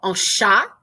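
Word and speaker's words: chat: is our start so sha a cat like the word cat without the h you just don't pronounce the h oh sha i guess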